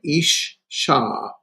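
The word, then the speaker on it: אשה: And here we have the word for woman, isha. Notice the doggish forte, ish sha. So it's like there's another uh, shin there.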